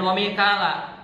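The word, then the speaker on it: Mīkāla: Tapi ternyata ketika kita baca Al-Qur'an dengan qiraat Hafs, kita bacanya wa Mikala, Mikal gitu.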